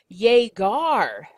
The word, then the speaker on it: llegar: So yegar, it's called a hard G sound because it's a g, g, g sound.